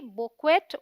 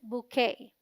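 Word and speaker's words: bouquet: है फूलों का गुच्छा अगर आप स्पेलिंग देखें तो आप इसे पढ़ेंगे बक्वेट और बुक वेड मे बी लेकिन दोनों ही इनकरेक्ट प्रोनंसिएशन हैं बी ओ you sounds like बू rhyming with shoe Q यू ई टी इज the stress syllable and sounds like के rhyming with day टी is silent so the right pronunciation is बुखे बुखे अब आप बताइए कि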